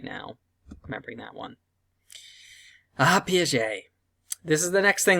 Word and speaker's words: Piaget: And I know it doesn't look like it should be pronounced that way, but it's Piaget.